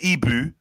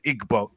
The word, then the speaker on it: Igbo: know a language because you can't even pronounce the tribe properly you then went on to Igbo Igbo so it's like you